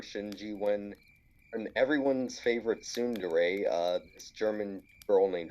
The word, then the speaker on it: tsundere: get worse for shinji when and everyone's favorite tsundere uh this german girl named asuka shows up they have sort of a rocky relationship like uh wait sorry everyone's favorite what tsundere that's how you say it oh i know